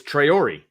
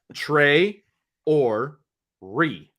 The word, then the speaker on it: Traore: It's Traore. Traore, okay. Yeah. So it's not a silent E. Okay. I need to let some of the people on the beat know that because they're butchering it. But it's Trey or Re.